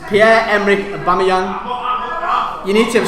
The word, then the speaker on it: Aubameyang: Pierre-Emerick, I'm not going to pronounce this right, Aubameyang or something like that. What? That's what I said, Aubameyang. That's what I said, thanks. I never said that, but it's Pierre-Emerick Aubameyang.